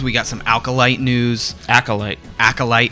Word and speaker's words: Acolyte: It's not alcohol. What do I always do this. What is it? Acolyte. There's no L before the C. Acolyte. That's what she said. Am I saying it wrong? Acolyte. Acolyte. Yeah, not alkalite.